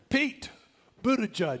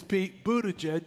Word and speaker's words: Buttigieg: Pete Buttigieg, because I was worried about how to say the name, okay? His name is Pete Buttigieg, and he is running for president.